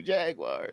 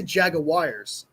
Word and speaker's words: Jaguar: I say Jaguars. I go Jaguars. Jaguars. That That's how they say it in England.